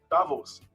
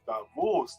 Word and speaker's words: Davos: little town switzerland called davos no not davos it's davos the pronunciation is in the second syllable there are those it's